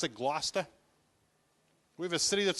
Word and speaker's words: Gloucester: our city names because they're spelled differently than they're pronounced like we have a city that's spelled Gloucester we pronounce it Gloucester we have a city